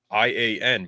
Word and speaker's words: Ian: I thought it's spelled I-A-N, but it's Ian, not Ian.